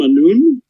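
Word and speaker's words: Anoon: the land is named noon a-n-o -o-n all right I think it might be a-n-o-u-n on but it's pronounced a noon King all right you have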